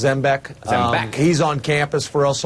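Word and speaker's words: Zembiec: Just, you know, it looks like Zambek, but it's actually pronounced Zbeck.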